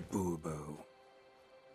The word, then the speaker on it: Bourbeau: Monsieur de Bourbeau. The emphasis falls on the last syllable.